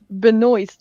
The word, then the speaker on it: Benoist: It's Benoist, like moist. Yeah. But it's different from Benoit, the wrestler, although spelled the same way.